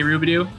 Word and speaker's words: Robidoux: like that i say rubidoo kind of rolls off the tongue and if the way i say it rhymes with rendezvous now so wrong there